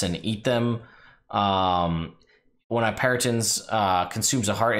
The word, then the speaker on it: Peryton: I think it's a Peryton, is how you pronounce it? Peryton.